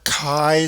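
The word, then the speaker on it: chi: that sounds familiar right but it's for a Kai squared test I didn't mispronounce it either that x that you see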